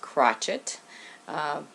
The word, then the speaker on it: crocheter: yes it's called crocheter it's spelt the same way but pronounced crotchet that comes from my